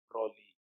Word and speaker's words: Broglie: But later, in the year 1924, a French physicist, a French physicist by name Louis de Broglie, pronounce it as Broglie, not Broglie.